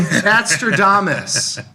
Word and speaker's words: Batradamus: Batraamus. Like Nostradamus.